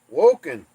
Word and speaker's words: Wokingham: Fett is a scouser wokingham is pronounced woken oh my goodness Wenham